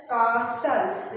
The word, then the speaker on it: castle: Okay, so you can see the word is pronounced as castle. Write L right after S. It's not castle. Okay, the T will not be pronounced.